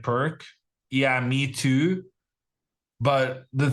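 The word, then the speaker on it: Pirc: opponent plays the perch I think it's pronounced p i r c I've always pronounced it like perk yeah me too but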